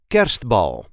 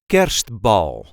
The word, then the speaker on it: kerstbal: This is how we say Kerstbal. Kerstbal. The emphasis is on the first syllable. Kerstbal.